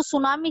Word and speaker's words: tsunami: मतलब जो सुनामी है ना, इसके अंदर टी है वो साइलेंट है, और वो कहते हैं